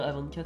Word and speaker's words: A24: D'ailleurs, le mec de Canal, mais s'il te plaît, prononce bien A24, c'est pas. C'est H24.